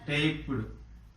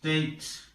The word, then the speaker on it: taped: Taped. This is also pronounced as t.